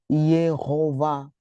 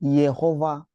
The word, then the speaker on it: Jehová: Esse re que vocês estão a ver aqui, ele é impronunciável. não se pronuncia porque segundo a grammática do hebreico, quando nós temos o a kgador mais o re no final, isso indica uma terminação feminina. O re no final dificilmente ele é pronunciado. Ah, então aqui nós temos Jehová. Ah, temos aqui Jehová.